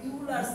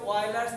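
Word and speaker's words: Euler: বানান দেখে মনে হয় উচ্চারণ করি ইউলার্স থিওরেম, এটা কি অয়েলার্স থিওরেম বলে।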